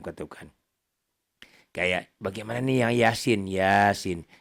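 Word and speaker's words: يس: Kayak bagaimana nih yang Yasin? Ya-nya di atas ya-nya 1 alif, 2 ketukan. Sin-nya 3 alif, 3 ketukan. Gitu cukup ya. 3 alif berarti 6 ketukannya kali 2. Yasin.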